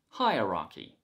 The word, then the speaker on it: hierarchy: today's word is hierarchy hi-raki hi-ra key the stress is on the first syllable hierarchy hierarchy hierarchy